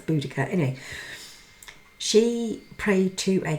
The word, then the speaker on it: Boudicca: divination techniques now quinbo queen bodacier or boudicca however you'd like to say her name obviously depends on her age because i think it changes i think my generation used to say beaujoc but now it's boudicca anyway she prayed to